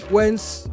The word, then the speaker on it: Wens: bit like American show Roy's in the winds wence means wish um you could try to do